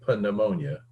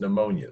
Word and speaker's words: pneumonia: Okay, the P is silent, just like it is in pneumonia. We don't say pneumonia, okay? It's just pneumonia, so it's just pterygoid.